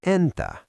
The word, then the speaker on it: entä: If I ask you Mitä kuuluu?, and you want to say "And you?", you use the word Entä. Mnemonic: Think of saying "And-ta thanks for asking!"